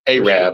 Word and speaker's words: Arab: And it's pronounced Arab, Alabama.